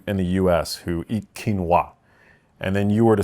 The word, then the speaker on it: quinoa: people in the in the U.S who eat quinoa and then you were to sort of um